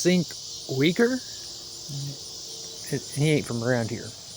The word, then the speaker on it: Cenk Uygur: There's fell on the Young Turks uh I think his name is pronounced Sink Wager.